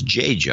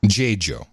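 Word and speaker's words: Dziadzio: It's spelled D-Z-I-A-D-Z-I-O, and the pronunciation is J-Jo. I think it would be J-Jo.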